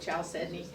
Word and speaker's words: chalcedony: I'm very phonetic, so it's spelled C-H, I call it chalcedony.